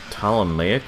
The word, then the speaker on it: Ptolemaic: are part of the ptolemaic army if you look it up you're gonna have spell it with a p because the p is silent because English the boss